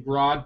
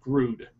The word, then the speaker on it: Grodd: I could swear that Grodd does not pronounce his name Grodd, but Grood, which pisses me off because he says, "I am Grood."